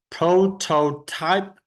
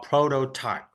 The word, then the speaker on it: prototype: a real car prototype you can pronounce prototype or prototype so two pronunciation that you can use okay so you can